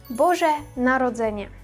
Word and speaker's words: Boże Narodzenie: Let's pronounce it again. Boże Narodzenie.